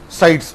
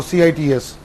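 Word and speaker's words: CITES: wild fauna and flora in short it is called as a sites or cits or it is also called as a cities that you can pronounce it as a sites or cities whatever may be that and the third convention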